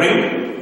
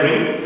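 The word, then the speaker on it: wring: इसका प्रोनाउंसिएशन, उच्चारण आप लोगों को करना है रिंग. इसको रिंग नहीं बोलना है, इसको बोलना है रिंग.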